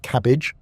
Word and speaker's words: CABG: In more complex cases or when multiple arteries are involved, doctors may recommend coronary artery bypass grafting or cabg, pronounced cabbage.